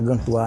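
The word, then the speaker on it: Gantois: Quer dizer, em francês pronúncia Gantoá, né?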